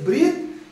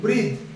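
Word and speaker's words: breathe: হল এবার number two দেখ ডানদিকে কি বললাম উচ্চারণটা ব্র বাংলা মানে শ্বাস প্রশ্বাস আর ভারসেস বৃদ এটার বাংলা মানে শ্বাসপশ্বাস নেওয়া ঠিক আছে শ্বাস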